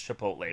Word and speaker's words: Chipotle: It's Chipotle, but it's just fun.